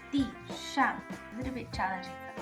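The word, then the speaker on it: 地上: 地上, both in the fourth tone. 地上, a little bit challenging for me to pronounce when both things are in fourth tone.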